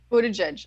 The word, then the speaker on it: Buttigieg: How do you pronounce the Democratic candidate that name started with butt? Buttigieg? Buttigieg? Buttigieg.